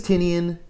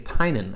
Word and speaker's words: Tynion: James Tinian getting Batman James Tinian actually his name is James Tainan I found but I've been calling him Tinian for so long it's hard to say it right I saw an interview and he piece he said his name out loud and it was James Tainan so I'm gonna try